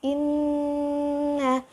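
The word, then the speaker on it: إِنَّ: Nah, kita membacanya, baca huruf yang pertama dan langsung masuk ke huruf yang kedua karena ada tasdidnya. Kemudian kita tahan, baru kita hidupkan kembali. Oke, kita baca inna, karena nunnya bertasdid, ditahan dia kan, baru hidupkan lagi.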